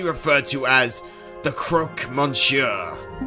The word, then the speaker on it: Monsieur: Oh, I don't pronounce the N in it? Monsieur. Is it Monsieur? Monsieur. I've been saying Monsieur the entire time.